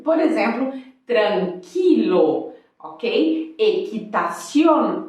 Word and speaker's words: tranquilo: letra U por exemplo tranquilo Ok equitaciona mas o que acontece não se pronuncia porque no português a gente fala tranquila mas em espanhol é tranquila muchacha tranquila toda vassaleiro